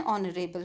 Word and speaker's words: honorable: For example, an hour, an honorable person, an honest boy. In each of these cases, the letter H is silent.